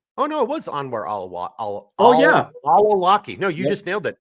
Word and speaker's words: al-Awlaki: Oh no, it was Anwar al-Awlaki.